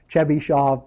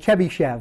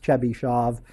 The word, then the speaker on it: Chebyshov: the name because the name in Russian is pronounced chish shav because after the Sha consonant you can't have an A so you will you'll see this guy called chbby Chev he's got a bunch of polinomial that he's